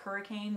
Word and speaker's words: Hurricane: you'll hit hurricane utah it's spelled like hurricane but it's actually hurricane and that it's about